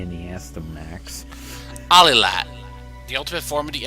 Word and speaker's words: Alilat: Iliad? No, I used to pronounce it that way, but it's A-L-I-L-A-T.